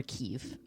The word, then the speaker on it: Kiev: there speaks russian so you can pronounce it kiev or kiev either one is correct um i know some